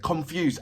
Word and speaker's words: Konfuz: His name is, and I hope I'm saying it right, it's Konfuz, and it's pronounced as, it's spelled as Konfuz, Confused.